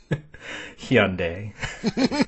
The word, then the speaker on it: Hyundai: because Max tanjan Chile works for Hyundai Hyundai Hyundai that is how you're supposed to pronounce it Ah that's now I'm American yeah